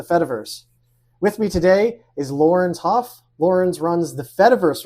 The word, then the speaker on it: Laurens: I pronounce it Laurens Hof. Like with the hard Dutch R, like Laurens.